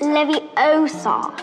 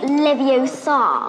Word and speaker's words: Leviosa: saying it wrong. It's Leviosa, not Leviosa.